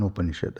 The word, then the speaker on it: Upanishad: So, it's actually a combination of 3 syllables. Upa, Ni, and Shad.